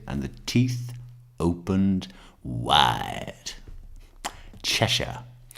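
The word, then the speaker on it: Cheshire: Chesher, it's pronounced chesher.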